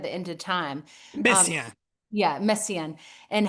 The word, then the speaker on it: Messiaen: I'm not pronouncing him, but he did the quartet at the end of time. Um, Messiaen.